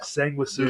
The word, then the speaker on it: Sanguisugabog: Sanguisugabog.